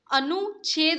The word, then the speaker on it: अनुच्छेद: अनुच्छेद, अनुच्छेद होता है, च और छ की आवाज आ रही है अगर आप प्रोनाउंसिएशन कर रहे हैं तो यहाँ पे क्या होगा, अनुच्छेद।